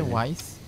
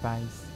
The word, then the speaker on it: Weiss: It's W-I-E-S-S. They did it a German way. Yeah, so that's pronounced Weiss.